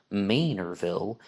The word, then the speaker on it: Manorville: a Long Island commuter and said it's actually pronounced Manorville in that part of the country, and that